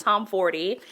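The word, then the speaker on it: Tomforde: I have finished The Right Move by Liz Tomforty. I'm gonna keep saying that because that's how they pronounce it in the audiobook multiple times, so I'm assuming that is the correct way to pronounce the author's name.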